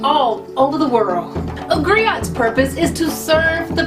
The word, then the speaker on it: griot: to share that history with you agrio it's pronounced Grio or in English AG it's a West African